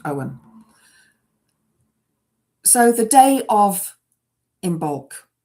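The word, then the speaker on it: Ogham: It's the first in the alphabets um of both the runes uh and the um Celtic Owen, which is spelled O G H A M but pronounced Owen.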